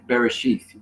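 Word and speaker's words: בראשית: Bereshith.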